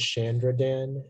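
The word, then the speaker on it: shandrydan: information please yeah uh the only pronunciation is chandra dan it's a noun and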